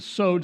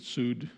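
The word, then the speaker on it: סוד: And then the sod, S-O-D, the sod, it's pronounced like wood, but sud, some say sod, is the hidden, secret, or mystic meaning.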